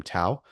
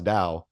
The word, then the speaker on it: Tao: Anybody who calls him Tao, the people who know that that's Dao will look around and think, "Oh, that that guy's kind of illiterate."